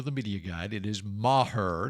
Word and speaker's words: Maher: And the other guy, Brett Maher, and that is how you pronounce it, according to the media guide. It is Maher, not Maher.